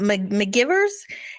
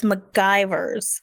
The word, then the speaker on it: McGivers: of course he does he's like uh he's like spoka what's her name what's her name um mcgivers and spot corrects him and says it's macgyvers sure enough cut to